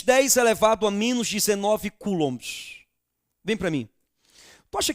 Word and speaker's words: coulomb: Se escreve coulomb, mas se fala coulomb.